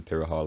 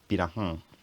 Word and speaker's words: Pirahã: My best guess is that it's Portuguese and it's natively pronounced something like Pirahã.